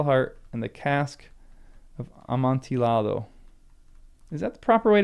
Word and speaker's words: Amontillado: Of the two L's, Amontillado.